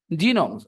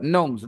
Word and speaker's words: gnomes: they are pronounced gnomes g is simply silent I said gnomes I